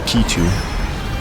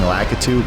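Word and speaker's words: Lakitu: that's lcu lcu or litu man people pronounce it differently I personally prefer saying lacu cuz it makes more sense and that's how I grew up saying it but sometimes people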